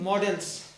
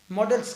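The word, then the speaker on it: modals: ठीक है, इसको मोडाल नहीं पढ़ते बेटा, आप लोग मोडाल ना कहना, मोडाल जैसा कोई प्रोनाउंसिएशन नहीं होता, मॉडल्स कहेंगे। ठीक है ना, बहुत लोग इसको मोडाल कहते हैं, जो कि गलत प्रोनाउंसिएशन है। सो राइट प्रोनाउंसिएशन इज मॉडल्स।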